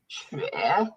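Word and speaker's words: 雪: The next word, snow, xue. Love it. It's a little hard to pronounce. You have to get this kind of like a dipping tone. So up, down, up, xue.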